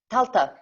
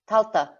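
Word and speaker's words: Tailtiu: It's quite a weird spelling for anyone who hasn't got Irish, but it's pronounced Taltuk. Talta, not Taltuk. Talta.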